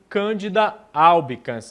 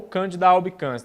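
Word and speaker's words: Candida albicans: proliferação exagerada do fungo Cândida albicans ou Cândida albicans tá bom não não tem tanto problema aí com relacionado é relacionado à pronúncia certo isso aí é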